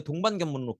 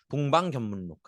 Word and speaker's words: 동방견문록: 더구나 우리 이거 중국사 배울 때 배운 적이 있는데 마르코 폴로의 동반견문록 기억나시죠? 발음이 왜 이러지? 동방견문록.